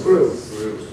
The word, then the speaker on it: Grylls: How do you pronounce that surname? Any idea? Grills? Grills. Bear Grylls, what a name, mate?